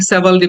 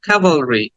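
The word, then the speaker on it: cavalry: sound কাভালরি ক্যাভালরি এটাকে অনেকে সেভালরি বলে থাকে বাট সেভালরি না কাভালরি কাভালরি আবার খেয়াল করো আমার মুখের দিকে খেয়াল করো এবং সাথে সাথে বলো কাভালরি কাভালরি কাভালরি then the next word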